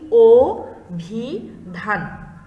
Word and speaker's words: অভিধান: আরেকটি উদাহরণ দেখো অভিধান, লিখছি কিন্তু আমরা অ এরপরে ভি এরপরে ধান, কিন্তু উচ্চারণ করছি ও ভি ধান, ঠিক আছে?